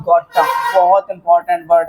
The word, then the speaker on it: gotta: अब next word हमारे पास में लिखा हुआ है गोटा।